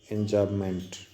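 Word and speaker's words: enjambment: ये आपको यहाँ दिखाया गया है, एंजामेंट, एम साइलेंट है, एंजामेंट।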